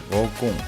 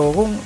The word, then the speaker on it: GoKoom: De todo esto hablaremos hoy, pero antes de entrar en materia te presento una a mi herramientas, GoCoom, que se escribe G-O-K-O-O-M.